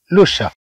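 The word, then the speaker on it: le chat: هذا القط يسمى ميكي، أما القط فيسمى لوشا، لوشا، لوشا. طبعا سي اش تنطق كالشين، طبعا في اللغة الفرنسية ليس هناك شين. طبعا الحل الموجود هو أن نضع سمع اش فتعطينا هذا الشين. إذا نقول لوشا، نقول لوشا، أو نقول لا شات.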